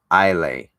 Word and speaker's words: Islay: of buildings by the sea of Islay pronounced pronounced Isle a rocky southern shore guarded